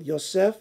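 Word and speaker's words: יוסף: left on the name but they're pronounced identical yosef yosef another name is the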